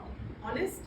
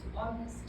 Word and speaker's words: honest: o n e s honest honest honest honest so the H is silent so we can um